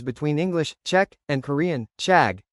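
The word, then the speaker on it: 책: It's like asking how you would tell the difference between English, Czech, and Korean, chag, which is pronounced like Czech and means book.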